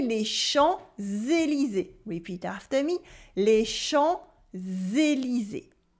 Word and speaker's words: Champs-Élysées: We also have a silent P. We don't say les champs. We say les champs, les champs, les champs. The P is silent. And at the end of Élysée, E, S are silent as well.